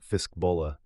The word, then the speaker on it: Fiskbola: Their fishbowl, he meant Fiskbola, though few outsiders pronounced it correctly, will provide agricultural supplies in exchange for, he paused, a reasonable supply of great forge products.